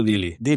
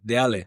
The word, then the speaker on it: Deale: Oye, ¿cómo se pronuncia? Por cierto, yo le digo Dilly. Cuando hablas con alguien que está en Murcia dices dil ¿Dónde? No, de Ale.